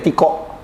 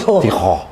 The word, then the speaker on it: Tiho: Kita manggilnya Tiko. Tapi namanya sebenarnya harus Tiho. Oh gitu ya.